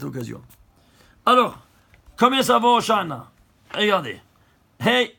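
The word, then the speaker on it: הושענא: Hoshana, Hoshana. Que les non-juifs, ils ont traduit, c'est intraduisible, mais ils ont gardé la prononciation, ils ont dit Hosanna, Hosanna.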